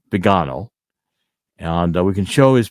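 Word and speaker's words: Viganò: um Bishop vgo it's people do say vigano but in Italian pronounce it Bano and we can show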